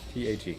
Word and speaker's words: Tag: T-A-G. No, not B-tag. Which also means day in German. Pronounced Tag.